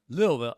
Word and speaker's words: Louisville: Louisville. How do you say it? That's right. It's It's one syllable if you say it right. It's Louisville.